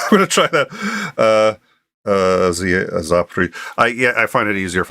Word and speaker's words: Zaporizhzhia: How do I pronounce that? The other power plants, the largest power plant in Europe. It's Zaporizhzhia. Zaporizhzhia. Wow, I'm going to forget that one. I'm going to try that. Zaporizhzhia.